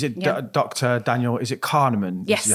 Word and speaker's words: Kahneman: Daniel, is it Kahneman? Yes. Is how you pronounce Yeah.